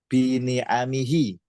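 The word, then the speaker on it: بِنِعَمِهِ: Kalau bini'mati harus ada tanya. Bini'amihi. Bini'amihi. Jamak ni'matun, ni'amun. Jadi kalau kita lihat, kalau tidak ada tanya berarti pakai jamak itu. Ni'amun. Kalau ada huruf jar berarti bini'amihi.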